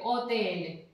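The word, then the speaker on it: hotel: अब ये एच है, ये साइलेंट हो जाता है, ठीक है। एच जहां भी जिस स्टार्ट में जैसे किसी चीज में आका से तो कोई शब्द बन नहीं सकता, तो एच को हर जगह साइलेंट कर देते हैं, ओते एले, ठीक है।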